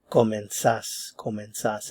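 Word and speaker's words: comenzás: It is commensas. And notice there's no stem change here. So, the stress is on the last syllable.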